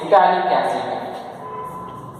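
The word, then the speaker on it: phthalic: Now its common name is gallic acid. Gallic acid. Gallic acid. Okay, this is the gallic acid. Here pH is silent. That is gallic acid.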